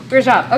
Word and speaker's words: Rajab: I can't pronounce that one. Rajab.